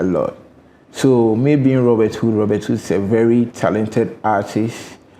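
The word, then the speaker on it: Hud: I'm like, yeah, my hood be this. You get it? So they are like, oh, okay. So Robert's Hood. So that is how the hood came about. And the hood is spelled H-U-D.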